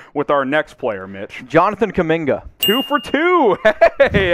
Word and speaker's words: Jonathan Kuminga: it rolling here with our next player mitch jonathan kaminga two for two hey hey atta boy mitch